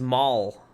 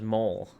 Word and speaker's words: Mol: Oh, it's Maul. Kinda, not so much Mole. I've been pronouncing it wrong.